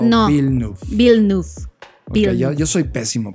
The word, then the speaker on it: Villeneuve: Villeneuve. Okay, Villeneuve. Yo soy pésimo pronunciando.